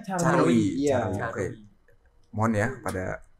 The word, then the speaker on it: Caruy: Tulisannya tuh Carwi. Bukan pakai Y. Tulisannya CARUY. Bacanya Carwi.